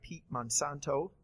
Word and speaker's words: Pete Monsanto: We're also joined today by Pete Monsanto. Did I pronounce that correct?